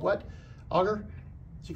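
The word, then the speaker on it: agar: So what we have here is a little petri dish, and inside here, I think I'm pronouncing this right, it's called what? Auger?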